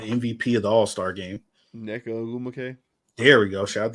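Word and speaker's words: Nneka Ogwumike: Neka Ogumake. There we go. Shout out to you, Blake. Great pronunciation.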